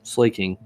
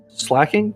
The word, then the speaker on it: slaking: Slaking. I think it's slacking. Slacking? It's spelt slaking, but I believe it's pronounced slacking.